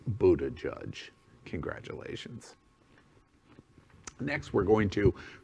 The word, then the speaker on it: Buttigieg: even on it's happening i could not pronounce his name the reason he called himself mayor pete is none of us could pronounce his name on february 2nd 2021 the entire planet knows it's buddha judge congratulations next we're going